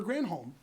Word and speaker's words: Granholm: I like the previous Michigan governor because her name rhymed with damn Holmes. Jennifer Granholm.